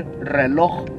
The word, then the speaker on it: reloj: Can y'all say reloj? Reloj. Reloj. Roll your R's, you gotta reloj. Roll them R's.